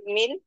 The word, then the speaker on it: more: British অ্যাকসেন্টে কিন্তু মোর বলে না, ওরা রটাকে সাইলেন্ট রাখে, মো বলে। হ্যাঁ, নেক্সট ক্লাসে আমি প্রোনাউন্সিয়েশন নিয়ে ডিটেলস কথা বলবো। মোর না মো।